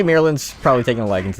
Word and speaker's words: Bireland: Bireland, there you go. I got the name wrong, yeah.